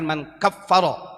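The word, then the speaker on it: من كفر: Artinya, nah di sini dikatakan man kafaro bacanya, Pak.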